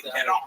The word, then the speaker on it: Parent: his career in Philadelphia, a guy named Bernie Pedon. Pedon would spell parents. Pedon would spell parents. When French do that, they make the NT silent, all the words, the word sound full. Pedon.